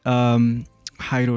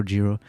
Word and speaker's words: Jairo: Well, if you're reading it, it's spelled Jairo, so some people say it as Giro.